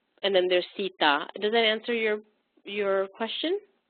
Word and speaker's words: Sita: No, so Lord Krishna's, Lord Rama's wife, her name is Sita. Sita. And Shita is different. It's completely different.